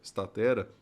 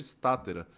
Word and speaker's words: Statera: Estatera, que no começo a gente chamava até de estátera. E aí a gente foi até um professor de latim para entender como que seria essa pronúncia correta. E a gente entendeu que estatera que soa bem melhor, né?